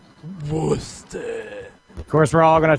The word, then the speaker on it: Worcester: It's pronounced Worcester. Worcester.